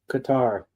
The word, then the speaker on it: Qatar: It's Qatar. Guitar. Okay, that I was pronouncing it right.